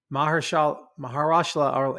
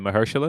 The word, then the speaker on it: Mahershala: Mahershala, and I always get his name wrong, so no disrespect. Is it Mahershala?